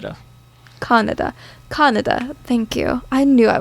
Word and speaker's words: Kaneda: We do our E's a little differently in Kaneda. The King's English, but yeah, it's Kaneda. Yeah. Kaneda.